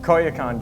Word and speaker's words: Koyukon: We've got Ted Ramirez here from Caribou Gear and and Say it right. Koyakon gear.